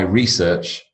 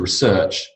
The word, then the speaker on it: research: verb and this box contains all of my research but I still have to research a lot more your noun and you gotyou